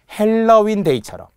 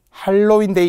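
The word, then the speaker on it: 핼러윈데이: 헬러윈 데이처럼 안타까운 이태원의 사고가 있었죠. 헬러윈데이. 할로윈데이 이런 거 하면 안 된다는 거예요.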